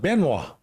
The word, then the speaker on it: Benoit: way you pronounce it it's pronounced benoa yep in the polite manner right yes correct very